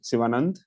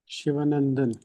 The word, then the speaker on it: Sivanand: So please help unmute and say your name yourself so we pronounce it correctly. Miss or Mr. Siva Sivanand Nelani Sivanand Shivanand okay it's coming truncated on my screen